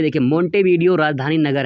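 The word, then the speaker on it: Montevideo: जिस दोस्तों मांटेवीडियो यहाँ पे लिखा हुआ है, लेकिन मोंटेवीडियो होता है।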